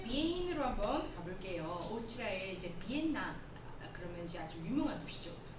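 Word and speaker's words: Vienna: 그렇지만 이걸 영어로 발음을 할 때는요, 비엔나, 우리 비엔나 소시지 그러면 이제 굉장히 친숙하지 않습니까? 그런데 이제 영어로 이걸 발음을 할 때는 비엔나라고 발음을 합니다.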